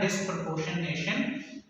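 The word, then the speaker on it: disproportionation: तो इसे आपने कैसे प्रोनाउंस करना है, डिस्प्रपोर्शनेशन, दो पार्ट्स में आपने इसे डिवाइड करके जो है वो प्रोनाउंस करना है, डिस्प्रपोर्शनेशन रिएक्शन।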